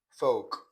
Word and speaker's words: folk: So let's look at the silent L, that is, you not pronounce the sound in these words. So, palm, bam, sam, walk, talk, stalk, yoke, should, could, would, folk, and so on.